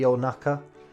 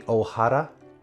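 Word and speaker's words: お腹: of this kanji it could be onaka it could be ohara it could be ohuku but i'm gonna go with naka because i most often hear people say onaka to mean stomach like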